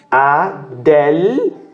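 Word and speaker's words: ἀδελφός: Adelphos. 3 sílabas aqui, tá? Adelphos. O que nós temos aqui? Essa letra é a sílaba tônica. Essa aqui são 3 sílabas. São 3 letras, tá? E aqui eu tenho del ou del. É a segunda sílaba da frase. E fos tem um som mais aberto por conta do ômicron aqui.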